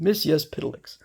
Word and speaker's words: Mxyzptlk: Mxyzptlk, which I pronounce it based on what I had been told in a book is the way to pronounce it. Mxyzptlk.